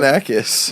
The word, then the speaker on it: Galifianakis: Galifianakis.